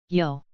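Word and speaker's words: 요: word Yong next is yo the romanization for this character is letter y yo yo sounds like the yo on the word yoke next is you the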